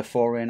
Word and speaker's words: Pfhorian: It's pronounced with P, it's P-F-H, so I assume it's silent and it's just the Pfhorian armor.